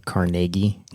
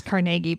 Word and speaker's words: Carnegie: I I'd just like to thank you for pronouncing carnegi correctly you and I have been together for like eight years or something like I know how to pronounce carnegi by now everybody outside of Pittsburgh proun pronounces